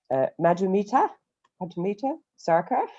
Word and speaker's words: Madhumita Sarkar: Madhumita Sarkar. Hopefully that pronunciation isn't really It's absolutely right. I think you're just being generous. No, spot on.